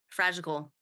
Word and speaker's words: fragical: humans connect cool yeah fragical I like that new word fragical fragical fra it rhymes with magical yeah I got that